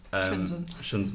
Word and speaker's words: Shenzhen: Hong Kong is a place called Shenzhen, and Shenzhen. Well, that's how it's pronounced. Okay, Amy, learn the lingo. But although we were only in Shenzhen for like a few hours, the best part